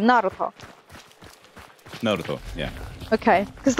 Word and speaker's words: Naruto: the stress, because like in Russian they say either Naruto or Naruto, but when I watched in the Japanese version, they have like two stresses on the first syllable and on the last syllable, and it sounds like Naruto. Naruto. So it's the first one, Naruto.